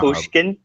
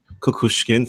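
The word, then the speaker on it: Kukushkin: Bon churich there I saw um kushkin I pronounced his name m i saw kushin kushkin thank you you're the announcer and so is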